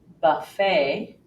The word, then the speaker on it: buffet: are several more exceptions another one occurs and words that come from the French language where we actually hear the long a sound for example Buffet ballet bouquet croquet Ricochet